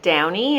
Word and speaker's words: Downey: My last name is pronounced Downey. It's often mispronounced because of the spelling, so it's like Iron Man or the fabric softener.